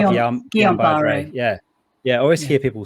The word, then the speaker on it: Guillain-Barré: I always say Guillain-Barré.